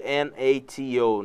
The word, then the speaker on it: NATO: Não é pronunciado N-A-T-O, né? Não é pronunciado N-A-T-O, mas sim NATO. como uma palavra.